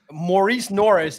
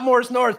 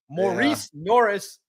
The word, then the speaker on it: Maurice Norris: It's not Morris Norris, but that's how we all call him, right? Maurice Norris, if that's the accurate way to say his name, is the guy.